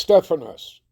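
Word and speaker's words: στέφανος: All right, it's pronounced Stephanos.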